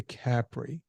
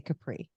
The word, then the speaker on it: Capri: It's like the people who say Capri. Oh, we went to Capri. I mean, that's how the Italians say it, but Americans say Capri.